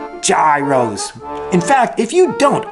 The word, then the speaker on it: gyro: receive confirmation that you have adopted the new pronunciation, gyro. Gyros.